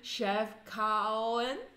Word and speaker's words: Chefchaouen: Okay, it's Chefchaouen.